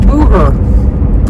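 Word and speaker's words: Bugher: up this last name it's b u g h e r but she pronounces it Booher so Booher thank you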